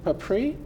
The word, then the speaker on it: Papiri: about that, and Papri and Pat Bridges. Thanks so much for joining us. I was hoping you basically say your last name just the way it's spelled. Papiri, yes.